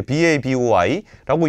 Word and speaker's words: BABOI: 이게 소반이라는 식당과 진주, 그리고 로맨틱 바보이라고 읽어야 되나? 이게 BABOI라고 읽는 요런 그 음식점들이 좀 생겨나고 있다는 겁니다.